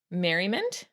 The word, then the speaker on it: Merry Mint: This is called Merrynt, but it's spelled Merry Mint because it was supposed to look like a little peppermint.